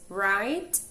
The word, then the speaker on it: write: O próximo grupo de homophones são essas duas palavras, write e write, certo? Esse primeiro write é o verbo escrever. Percebam que a letra W ela não é pronunciada, ela é uma silent letter.